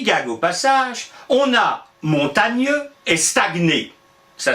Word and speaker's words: Montaigne: pas on disait montagne le x avait simplement indiqué comment prononcer son nom ça peut être important qu il est mort depuis longtemps mais si par hasard vous croisez ne lui dit pas vraiment un comment tu vas il va vous regarder comme un d'avril mais t'es ouf et moïse prononcent pas on dit montagne voilà ça servait à